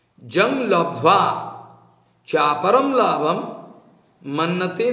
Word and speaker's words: लब्ध्वा: जिस अवस्था में जोगी पहुंचने का बाद ज्वंग लब्धा लब्धवा लब्धा नहीं उच्चारण है यंग लब्धवा च्वापरम लाभम मन्नते नाधिकम तथा यस्मिन स्थितो न दुखेन गुरु नापि विचलते।